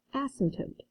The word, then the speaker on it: asymptote: t that is pronounced asymptote asymptote the p is silent so an asymptote what